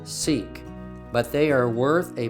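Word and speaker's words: Siq: five we come to the sick or pronounced seek this is a long road about 1 mile or 1 .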